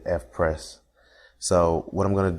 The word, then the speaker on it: Eveprest: install the Fess theme I've been calling it everpress so please excuse me for not saying it correctly but it's the F press so what I'm going